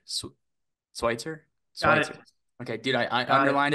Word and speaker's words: Sweitzer: joined by Mr Chad schwitzer swier swier okay dudee I underlined it I'm like I gotta pronounce the E and the I it's not Switzer like I thought it was but we're good we're